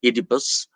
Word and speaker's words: Oedipus: is adipose rex or edipus rex don't bother about the pronunciation in english it is very commonly uh pronounced as oedipus and that is the anglicized pronunciation the original greek pronunciation